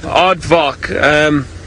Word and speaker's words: aardvark: wear the beanie rationing us what the correct pronunciation for aardvark is well that's it aardvark so VAR k vaak now the the Afrikaans